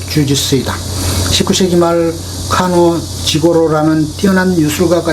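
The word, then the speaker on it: 柔術: 유술이라는 실전 무술이 있었다 유설의 일본어 발음이 바로 주짓수이다 19세기말 카논 지고로라는 뛰어난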